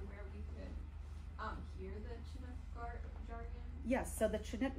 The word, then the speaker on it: Chinook: The reason I pronounce it Chinook and not Chinook is that in every pioneer story that I've read, they put something like a TCH to indicate a harder sound there, not a softer sh sound.